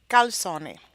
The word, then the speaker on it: calzone: are calzone and risotto the pronunciation of these words is different from English to Italian let's take a look